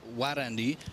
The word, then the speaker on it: Wadandi: Well, we kind of say like Warandi is kind of the R we pronounce almost like a gnarly. So that R gnarly, so it's Warandi.